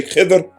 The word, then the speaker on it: Khidr: Others say Khidr, but most pronunciations I've heard is Al-Khadr.